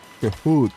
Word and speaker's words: cahoot: Cahoot. Prononcer. Cahoot. Comme dans boot.